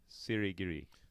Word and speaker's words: Sirigiri: I may have to help you, or I may have to have you help me with the pronunciation of his last name. Sirigiri.